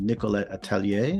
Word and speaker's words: Nicolette Atelier: And the name of her studio in DC is called Nicolette Atelier. Is that pronounced correct? Perfect. Awesome. Your French is on point.